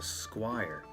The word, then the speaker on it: Squire: As you can see, ranging from 3D virtual tabletop all the way down to Squire. Yeah, that's how it's pronounced.